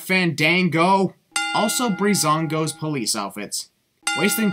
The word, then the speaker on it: Fandango: Time to present Fandango. It's Fandango, not Fandango.